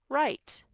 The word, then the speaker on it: write: name on my paper the wr makes the er sound right oopsie doesn't have a